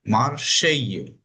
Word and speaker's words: Marseille: इसका प्रोनाउंसिएशन है मार्शेई, बोर्डो।